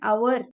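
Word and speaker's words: hour: See, spot the error and all, they'll give words like this where H is silent, O will be the pronunciation.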